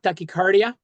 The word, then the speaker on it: tachycardia: I actually could you pronounce that for me? I'm not 100% sure how to say that. It's tachycardia.